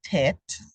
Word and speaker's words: Tet: the Greek Theta that the letter was possibly pronounced with a th the modern name for this letter is tet that's what you'll see